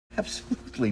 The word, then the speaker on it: absolutely: schwa really simple absolutely now there's another stop T here that's because the next sound is a consonant it's the L consonant yes the next letter is a letter e and that's a vowel letter but it's not a sound the next sound is the L consonant so it's a stop T absolutely absolutely it's not